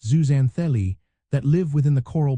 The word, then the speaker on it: zooxanthellae: The secret lies with tiny single-sellled algae called zuanthelli, pronounced zuzanthelli, that live within the coral polyp.